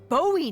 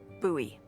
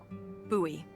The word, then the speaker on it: Bowie: out this huge Rusty Bowie knife it's actually pronounced buoy what no it's like the last name like David Bowie different last name buoy are you just messing